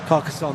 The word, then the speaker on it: Carcassonne: In from is it Carcassonne? Is that how you pronounce it? No, I ain't giving that a go. Carcassonne, that's it, yes.